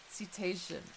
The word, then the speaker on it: cetacean: Set-ation. Like ocean? Yeah, that's what I thought, like crabs and stuff, right? Yeah. Set-ation. I like how you already had the pronunciation ready for me in chat because you knew I was gonna struggle with this word. You just already had it ready for me. Cetacean. Like crustacean, right?